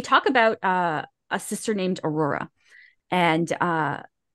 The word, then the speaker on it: Auror: Did I pronounce it wrong? Aurora. Okay, I wasn't sure. Aurora. It is Aurora.